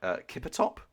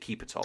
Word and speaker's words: Keepertop: Kippertop, or is it Keepertop? Keepertop, yes, it's correct.